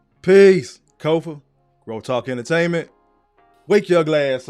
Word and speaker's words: Kofa: I am your humble host, Kofa. K-O-F-A, not coffee, not, not Kofi, or any variation thereof. Kofa rhymes with sofa, easy to say, easy to spell, right there on the screen.